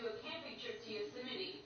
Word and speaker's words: Yosemite: Yeah, I always wanted to do a camping trip to Yosemite. Yosemite. It's Yosemite, right? But it's spelled Yosemite.